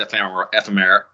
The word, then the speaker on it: ephemera: We're getting our honorable mentions and other assorted ephemera. Why do I try and pronounce words that I don't actually say in real life on the podcast?